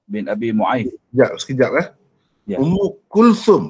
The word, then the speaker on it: Ummu Kulthum: Ummu Kulthum bacanya. Ummu Kulthum. Kita orang Melayu sebut Kalsum.